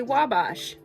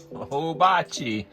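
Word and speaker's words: Ouabache: on here on indiana.gov it says simply say Wabash because it's from a French native word and on here it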